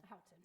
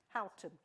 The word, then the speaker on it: Houghton: And here is Houghton. That may not be the way to pronounce it. Okay, I accept all ways. What's the right way? Houghton. Houghton.